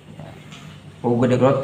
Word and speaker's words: Hugo de Groot: Hugo de Groot tulisannya sama ejaannya ya.